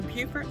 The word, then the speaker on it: Beaufort: Beaufort is the second oldest town in South Carolina, and even though it looks like Beaufort, it's actually pronounced Beaufort.